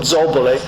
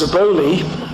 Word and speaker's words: Zobole: Now that name, I did study Italian with history of art, so an Italian would pronounce the name Zobole, but known as Zaboli.